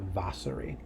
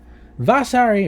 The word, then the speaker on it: Vasari: All right, so he's quoting a biographer of Parmigianino named Vasari. Vasari, or Vasari, I've never known how to pronounce that. I think it's Vasari, actually.